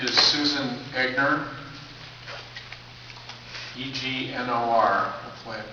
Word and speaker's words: Egnor: Speaker 5 is Susan Egnor, E-G-N-O-R. Hopefully I pronounced that correctly.